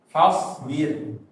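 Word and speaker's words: فاصبر: Ya wa li rabbika fa ya, jangan wa. Fasbir.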